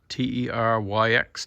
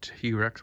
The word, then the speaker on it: Teryx: Got the Kawasaki Teryx, T-E-R-Y-X, Teryx or T-Rex, however you want to pronounce it.